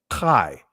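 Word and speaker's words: חי: It should be, when it says living thing, it should be Kai, right?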